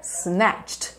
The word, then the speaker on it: snatched: Vamos a uma moderna, que é snatched, snatched. Presta atenção na pronúncia, porque aqui o pacote é completo, entendeu?